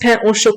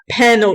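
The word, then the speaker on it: pain: morce Christi is pronounced and P is pronounced P chocolate bread not Pano Chola or poo Chola however you say it you're so proud to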